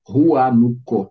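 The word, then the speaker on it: Huánuco: com uma cidade turística se escreve com h Rua nuco se diz Jânio é uma cidade turística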